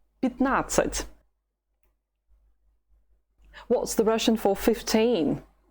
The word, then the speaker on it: пятнадцать: The stress is on the second syllable. That is why something strange happens to the letter ya. It is not stressed anymore. So when it's weak, we say it like this. I. Instead of пятнадцать, it's пятнадцать. Пятнадцать.